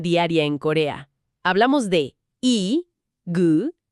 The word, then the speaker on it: 이: Empecemos con la primera pieza del rompecabezas, este, la sílaba i, que suena como una latina.